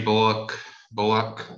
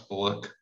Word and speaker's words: Bullock: Reggie Bullock, they say it like that. I thought it's Bullock, but Bullock, I don't know.